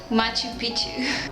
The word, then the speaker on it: Machu Picchu: how to say it, Machu Picchu. Sounds like Pichu, in Peru.